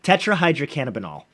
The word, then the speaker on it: tetrahydrocannabinol: that is or might kind of sound like tetrahydrocannabinol cannabinoid dang so close tetrahydrocannabinol there we go got it so CBD is